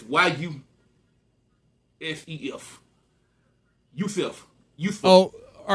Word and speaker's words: Yusef: I'm going to spell it first. It's Y-U-S-E-F.